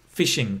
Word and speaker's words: phishing: is right fishing interesting why it's got ph i don't know why it uses ph but this pronunciations like fishing i think it literally